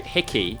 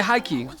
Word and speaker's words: Hickey: that's a good question so hickey hickey um yeah yeah and um yeah it's mispronounced uh all over the world i was going to say haikyuu no it's an irish name my father's from ireland